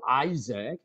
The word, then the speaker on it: Isaac: 그리고 to Isaac. 자, Isaac and to Jacob as well. 자, 여기서 발음 한번 잘 해볼까요?